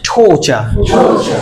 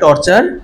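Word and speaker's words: torture: হবে না কোন সমস্যা হবে না নেক্সট ওয়ার্ড ঠোচা আমরা কি বলতাম বলতো একটু আমার আর টর্চার করিস না রাইট মেন্টালি টর্চার এমন তো বলতাম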